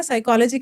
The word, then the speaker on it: psychology: तो इसमें P silent होता है।